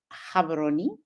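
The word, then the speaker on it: Gaborone: Uh we're joining you live from Havaroni. That's how we pronounce it here in Botswana.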